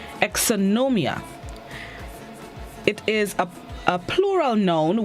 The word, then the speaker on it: exonumia: have it right exonomium exonomia it's spelled e x o n u m i a exonomia it is a plural